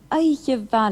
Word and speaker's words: Oidhche mhath: Oidhche va leat. Did you notice the difference in pronunciation between the ma in va, ma, a fine day, and va, Oidhche va, a fine night?